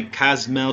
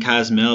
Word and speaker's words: Cozumel: previous video of my Cozumel trip 2019. Yes, I am saying Cozumel because I've been pronouncing it Cozumel, and that is absolutely goofy and wrong grammar.